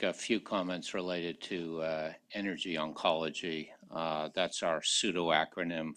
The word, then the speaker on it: NRG: few comments related to energy oncology that's our pseudo acronym for the merger of rtog GOG nsabp it is not pronounced NRG its energy and we had our